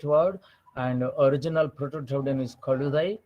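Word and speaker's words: கழுதை: So this is the Sanskrit word, and original Proto-Dravidian is Kaludai. Kaludai the Ra, this Jad with the under dot is actually a lateral pronounced as a palatal consonant.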